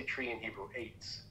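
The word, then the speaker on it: עץ: Eitz, right?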